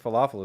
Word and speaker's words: falafel: Oh, stress and falafel is wrong. Am I doing it like it's Arabic or something? It's on the second syllable.